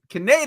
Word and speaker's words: Kaneda: Kaneda is the way I grew up.